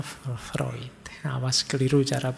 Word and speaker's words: Freud: dengan psikoanalisis nya y tulisannya Freud bacanya freid Awas keliru cara bacanya